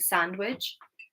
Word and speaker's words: sandwich: So, although this is a word where it states that the D is silent, I do hear some native speakers pronouncing the D. Maybe it's not necessarily correct, but they do.